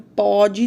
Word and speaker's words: pode: Até mesmo a pronúncia é diferente, né? O pôde tem um som fechado e o pode tem um som aberto.